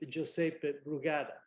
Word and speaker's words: Josep Brugada: very similar to to Italian to the Italian pronunciation with jpe so I feel even more comfortable with josepe brugada and I'm hosting Joseph with Robert ATA who